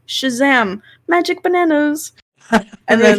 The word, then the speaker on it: xMagicBananas: So, speaking about, Magic Bananas, xMagicBananas, Yes. X is silent.